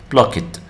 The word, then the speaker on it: blocked: فعل تمام فانتبهوا block blocked blocked blocked blocked تنطق كأنها تي يعني هاي كأنها منطقها تي blocked blocked.